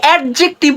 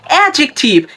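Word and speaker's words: adjective: তাহলে আমার সাথে এখন উচ্চারণ করুন অ্যাডজেক্টিভ, অ্যাডজেক্টিভ অ্যান্ড অ্যাডজেক্টিভ, কারণ ডি হয়ে যাবে সাইলেন্ট।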